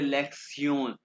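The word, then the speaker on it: Lektion: सबसे पहले तो मैं आपको ये बताऊंगा, ये TION को प्रोनाउंस करते हैं सियोन, ठीक है, जर्मन में, यानी कि ये हो गया लेक्सियोन वन।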